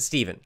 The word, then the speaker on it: Stephen: We pronounce it Stephen.